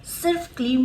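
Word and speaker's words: क्लीं: अगर उच्चारण करना चाहते हैं सिर्फ क्लीम मंत्र को, तो क्लीम के साथ एक खिंचाव होना चाहिए। क्लीम म का वाइब्रेशन जो होता है यही बहुत इंपॉर्टेंट होता है अपने चक्रस को जागृत करने के लिए।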